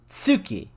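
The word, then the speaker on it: 月: moon in japanese is tsuki like you pronounce it with a t at the beginning and it's so close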